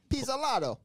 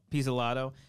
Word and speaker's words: Pizzolatto: Nick Pizzolatto. Pizzolato.